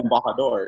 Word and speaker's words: Embajador: hard to pronounce, but, I always tell people it's like the E is silent. So it's like M, and then like Baja, California, Baja, and then like a door, right?